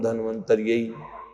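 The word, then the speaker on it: धन्वंतरि: मंतर धम नम ओ कई लोग उच्चारण में उनको दिक्कत होती है ओम धम धन मंतर धम नम कहने में तो ऐसे भी कुछ लोग जब करते हैं ओम धम धनवंतरी धम नमः ओम धम धनवंतरी धम नमः ठीक है दोनों तरीके से किया जा सकता है आप ये माला कीजिएगा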